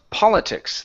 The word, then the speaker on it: politics: word here is pronounced Politics the stress is at the very beginning politics politics okay good good um